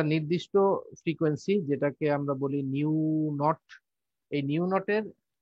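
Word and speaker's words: nu: এই কোর্সে আমরা এটাকে নিউ দিয়ে প্রকাশ করব এটা ভি না এটা হলো নিউ এরকম একটা শেপের একটা সিম্বল নিউ উচ্চারণটা হলো এন ই ইউ এন ই ইউ এরকম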